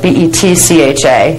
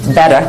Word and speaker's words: Betcha: Over here, we have the Beta Huva body, and it's spelled B-E-T-C-H-A, and it looks like Betcha, but it's not. It's Beta Huva body, but spelled B-E-T-C-H-A.